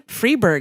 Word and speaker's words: Freberg: David parro directed by Rob rifon um Stan freeberg is that how you say his name yeah